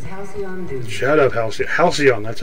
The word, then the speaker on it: Halcyon: Halcyon, that's how you say it.